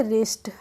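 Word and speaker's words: wrist: है अब है हमारा डब्लू आर आई एस टी तो इसको हम पढ़ेंगे रिस्ट रिस्ट नहीं पढ़ेंगे क्या पढ़ेंगे रिस्ट रिस्ट मींस होती है कलाई तो इस में भी डब्लू साइलेंट है ऐसे ही रिंकल क्या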